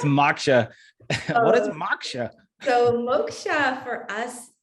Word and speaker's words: moksha: for those who may not know what does moksha mean and how does it relate to what you do well thank you for pronouncing it correctly yeah typically basically it's maksha what is maksha so moksha for us it's really a sanskrit word that